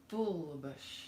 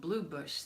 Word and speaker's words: Bullabush: This is our fantabulous administrator, bouncer extraordinaire in the flesh, Bullabush. Did I say it right? Bullabush. Yes. That's right. She got called Blue Bush this week. Not Blue Bush.